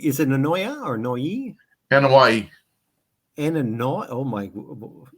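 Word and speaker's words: Anoa'i: have been the 55th birthday of Rodney Akatupu Annoya, a.k.a. the mighty Yokozuna. He was born in San Francisco. Annoya, is it Annoya or Noi? Annoya. Annoya. Oh my, say that again for me, slow. Annoya. Anawani.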